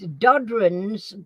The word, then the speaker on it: Dodrans: Do you want me to spell it? It's long. DODRANS bicentennial. So it's Dodron's bicentennial.